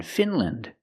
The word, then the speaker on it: Finland: Again, with countries, don't say land, say land. Again, Finland, Poland, Switzerland.